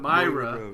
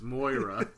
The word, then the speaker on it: Moira: It's not Myra. It's Moira. It's Moira.